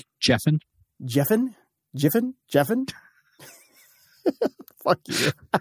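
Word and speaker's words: Giffen: Comics artist and writer that's pronounced jeffin jeffin jeffin jeffin fuck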